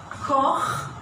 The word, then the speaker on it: Koch: So this one is pronounced Koch, and when it is in plural, I have to pronounce it from the mouth.